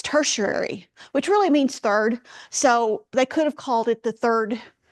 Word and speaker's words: tertiary: And then you have the next set, and I always struggle pronouncing this, tertiary. I have it phonetically here. I listen to it on the web so that I can pronounce it. It's tertiary, which really means third.